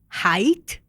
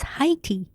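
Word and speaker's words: Hyte: Wait, that's how you pronounce it? Height. I pronounce it as Heiy.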